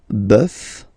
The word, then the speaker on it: bœuf: really strange, because it does mean that the pronunciation will change. Okay, so we'll take this one, un bœuf, and then at the plural, well, you just